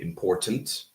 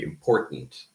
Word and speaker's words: important: Someone from England would probably say important, but people in America reduce that to a glottal stop. So we say important. Okay. It's not eliminated, so it's not elision. It is there. It's very important to know that it is there. Mhm. But instead of saying tent, we say int, right? With a glottal stop.